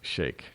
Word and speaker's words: Sheikh: I know some people pronounce it Sheikh, but it's actually pronounced Sheikh.